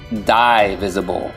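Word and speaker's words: D-visible: visible his victims are D visible pronounced die visible they visibly die like flies because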